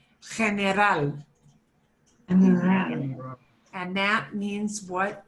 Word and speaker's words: general: General is the hardest one for English speakers to say because we want so desperately to say general, but it's general.